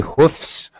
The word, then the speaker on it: hoofs: You can say hoofs or hooves. Either one is okay.